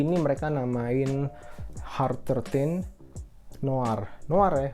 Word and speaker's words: Noir: Untuk edisi yang kali ini mereka namain Hard 13 Noir ya, bukan Noir kayak genre film dan lain-lain. Itu Noir, itu bacanya Noir.